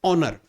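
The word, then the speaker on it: honour: Start हो रहा है, लेकिन जब हम इसको उसका जब उच्चारण करते हैं तो कहते हैं ऑनर। ओ, ओ से हम लोग उच्चारण करते हैं, इसलिए यहाँ पे ए जुड़ता है।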